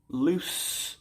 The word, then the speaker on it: loose: Loose with an S sound, a loose polo shirt.